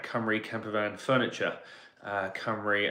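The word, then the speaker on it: Cymru: Camper Van Furniture uh Camry as in the Welsh uh pronunciation and spelling um we have some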